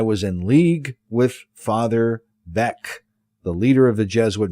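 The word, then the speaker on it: Beckx: B E C Kx B E C Kx.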